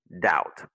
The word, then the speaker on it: doubt: Et l'autre, le B est muet, donc tu dis doubt. Parce que OU en anglais se prononce comme out, doubt.